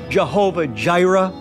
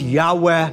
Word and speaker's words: Yahweh: can enjoy it but remember it's not Jehovah Gyra it's Yahweh y we're going to get